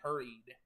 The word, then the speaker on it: Herreid: Hurried.